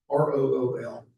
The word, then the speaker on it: rural: Or as they say in the legislature, rural, ROOL, rural. It's one syllable.